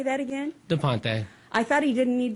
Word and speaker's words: De Ponte: Hello, this is Lynn Lassotovitch, and I'm here with Central Valley Talk, and I have DuPont. Well, I said it wrong. How do you say that again? Ponte.